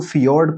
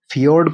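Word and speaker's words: fjord: तट है उसका जो कोस्टल एरिया है उसको फियर्ड कोस्ट बोलते हैं। इसकी स्पेलिंग है एफ जे ओ आर डी फियोड coast.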